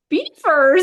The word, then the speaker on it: Belvoir: But the real castle in England, they do say a beaver. Beaver Castle, yeah.